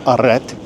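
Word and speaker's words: arrêt: You see the sign aret? That's how you pronounce it. It's pronounced aret.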